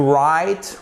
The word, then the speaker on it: write: commence par le haut ce qui est exactement la même prononciation que wright ok to write et